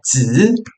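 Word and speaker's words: 子: E o ideograma de criança, a pronúncia dele é Z.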